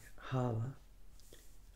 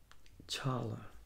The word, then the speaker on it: challah: And that's pronounced a couple different ways. You pronounce it like hala or hala or challah, I guess.